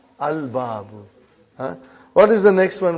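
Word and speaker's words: الباب: Moon letter. You did pronounce lam. Al-babu.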